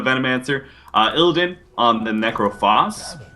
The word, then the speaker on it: Necrophos: uh ildin on the necrophos which i believe is how you pronounce that actually because i think it's the same pronunciation as phosphorus yeah i think something